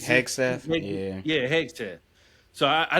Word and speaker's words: Hegseth: I can't pronounce his last name. What Hegseth? Hexeth, yeah.